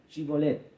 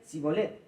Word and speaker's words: Shibolet: Si él respondía, no, entonces le decían, ahora pues di Shibolet. Y él decía, Sibolet, porque no podía pronunciar de aquella suerte.